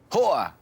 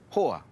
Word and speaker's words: hoa: You'll hear the correct pronunciation of each word first and then see how it's spelt.